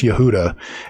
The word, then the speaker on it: Yehuda: Um, if you're curious about some of my processes, uh, for instance, when I pronounce Yehuda, it's it is pronounced Yah, yay, huh, and da.